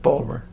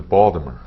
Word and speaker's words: Baltimore: do you say it baltimore baltimore yeah baltimore baltimore you can tell somebody is a native because we don't use the t i i'm not aware